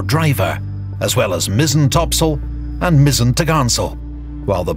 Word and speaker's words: topsail: Her large, square sails included the forecourse, fore topsail, pronounced topsail, and fore topgallant sail, pronounced foretogarnsail.